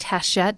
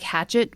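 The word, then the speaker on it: Hachette: you order from the hhat website so it's pronounced haset but it's spelled like hatchet with two e's and an e haset um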